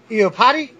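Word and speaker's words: Iupati: Among them were Patrick Willis, Joe Staley, Mike, I hope I pronounced his name right, Iopati. Sounds like you gotta go potty.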